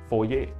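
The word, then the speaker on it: foyer: เนี่ย ครับ จะ เป็น เหมือน โฟย นะ ครับ ภาษา ต่าง ดาว เรียก ว่า โฟเย่ ะ อ่า ลอง สะกด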